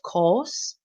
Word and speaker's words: course: last course um and the tongue stays at the bottom of the mouth throughout course it's at the bottom course um and think about horse horse or Moss so